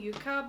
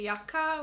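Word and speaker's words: Yucca: how you say it I was saying Yuka but I think you're supposed to say yaka which sounds very odd to me but anyways I tried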